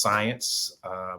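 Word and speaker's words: Siyanse: for the future uh it's s-i-y-a-n-s-e but pronounced science but it's explore science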